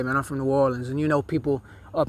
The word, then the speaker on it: New Orleans: a lot of them, they don't even pronounce it the correct way. They say New Orleans. Especially people from New York City, they say New Orleans, and you know, that's cringe to me. I don't understand. Like, if you're gonna say it right, man. We don't say it like that. We say New Orleans, not New Orleans.